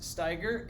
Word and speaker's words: Steiger: again my name is steiger it's pronounced as tiger like the animal i have been teaching